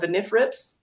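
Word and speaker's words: NRFRPS: tongue twister there but we call it benen rip first R is silent but that's the voluntary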